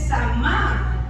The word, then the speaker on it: shama: La palabra oír en la Biblia, en el hebreo se dice Shama, S-H-A-M-A, acento en la A.